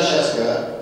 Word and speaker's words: Scieszka: I was in first grade well I'm John chesa as you may have heard author of uh